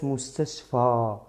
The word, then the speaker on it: مستشفى: pero esta es mustashfa. Es una vocal larga. Mustashfa, ¿vale? Alargamos la pronunciación.